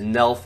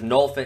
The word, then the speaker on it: Nolf: State's leaders did, who I would say is Nelf and Rutherford. Nelf. That's almost as bad as Jaden. Actually, Jaden is a proper pronunciation. Oh God. So for Penn State's leaders, Nolf and Rutherford went out there and freaking hammer smashed some people.